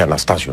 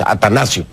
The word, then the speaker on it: Atanasio: quiero hacer una corrección pronuncié mal el nombre del estadio atanasio Me parece que dice dije Anastasio no es atanasio atanasio girardo vamos entonces